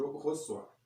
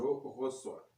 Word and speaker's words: reçois: La lettre C suivie par les voyelles A, O et U va avoir la prononciation ou le son K.